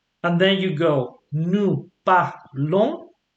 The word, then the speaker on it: parlons: Tu parles, il parle, and then you go nous parlons. You don't pronounce the S.